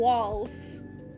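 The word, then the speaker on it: Walz: man uh Tim W wall s isn't it Walt it's Walt walls is how you say it oh we need five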